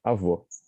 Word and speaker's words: avô: The ending, avô for grandfather, avó for grandmother.